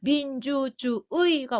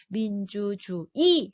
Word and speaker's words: 민주주의: 이 의는요. 이로 발음하는 거를 허용해 준대요. 원래는 의로 발음해야 되는데. 그러니까 민주주의가 원칙인데 민주주의 해도 된다는 말이에요.